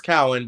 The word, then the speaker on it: Cowan: Sure, it's Cowan, but it doesn't matter. Everyone mispronounces it.